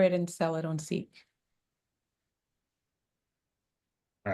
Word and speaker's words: CEEK: The only thing that I wonder, just knowing the name is spelled CEEK, is does it create confusion saying seek, what is it, seek a new reality with seek?